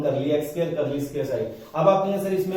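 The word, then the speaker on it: psi: है इसको बोलते हैं पी साइलेंट होता है साई, इसके लिए मैं लैंग्वेज का इस्तेमाल कर रहा हूं साई, इसके लिए करली।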